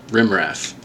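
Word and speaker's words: rm -rf: together remove space - RF is commonly called rim ref all right so from ref because that's how you pronounce RM - RF all right so remove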